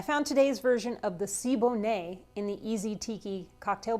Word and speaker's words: Siboney: home bartender i found today's version of the sibo nay in the easy tiki cocktail book this cocktail first appeared in trader vic's book called rum cookery and drinkery in 1976. it's pronounced sibo nay today's cocktail was updated by antonio martinez from